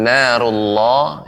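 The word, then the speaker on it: نَارُ اللَّهِ: Seperti tadi pengucapan narullah, ya, narullah, ya, tetap diperhatikan sehingga tidak sampai memonyongkan bibirnya.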